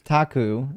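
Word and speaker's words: ταχύ: The word of the the Greek word used here is tachi. Is that how you say it? which means quickly, suddenly without delay once it begins. It's it's taku and you're close enough.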